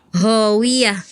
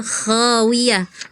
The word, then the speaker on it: khawiyah: Kowiyah khawiyah harusnya khawiah. Khawiah di sini di ujung ya, Kak ya.